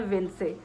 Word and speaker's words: Vince: कहते हैं विंस और कुछ लोग कहते हैं विन से ब जो मुझे कहीं से पता चला कहीं स्टोर से या कुछ है वहां पर वो लोग इसकी प्रोनाउंस एशन विन से करते हैं और हम लोग मैंने नॉर्मली बहुत सारी लोगों से सुना तो वो विंस कहते हैं ठीक है तो